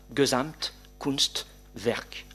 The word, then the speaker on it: Gesamtkunstwerk: le principe de la Gesamtkunstwerk, l'œuvre d'art totale. Gesamt, G-E-S-A-M-T-K-U-N-S-T-W-E-R-K. Les germanistes dans la salle savent qu'on ne peut pas faire de faute d'orthographe quand on prononce bien l'allemand.